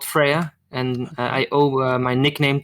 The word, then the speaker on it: Freija: I've been saying Freija. I mean, if you really want to say it the way she says it, it's gonna be Freya.